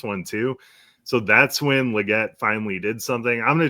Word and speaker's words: Legette: And if Legette really is the number 2 behind Tet, then sure, Legette and Tet, man, it rhymes.